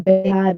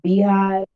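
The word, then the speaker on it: BeyHive: What I will say about that is, first of all, it's not the Bayhive, it's the Beehive.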